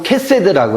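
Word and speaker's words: חסד: 그래서 해가 맞고, 요거는 우리는 그냥 헤세드라고 하는데, 요거는 원래 영어로 하면 KH예요. 그래서 헤세드예요. 네, 헤세드. 그래서 저는 이제 음력할 때 헤세드라고 않고 캐세드라고 해요.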